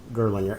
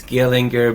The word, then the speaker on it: Gierlinger: pronounce that better it it's uh it's gillinger but girl yours is fine too so um I always say if it starts with the G and ends with an R that's uh everything what happens in between